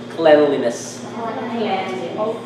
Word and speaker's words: cleanliness: i'm gonna tell you now that that's actually pronounced cleanliness okay so i'm only gonna give prizes to